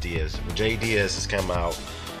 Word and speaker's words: Diaz: Yeah, it's pronounced Diaz.